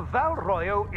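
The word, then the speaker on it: Val Royeaux: No, it's royal, not royal. Royal? No, not royal. Royal. Royal. Royal. Yo, as like in yogurt. No, yo. It's royo. Val royo, as in yo, as no in yo yo yo. No one. No. Yes, Val royo. No. Yes, Val royo. It's the game. That's how you say it.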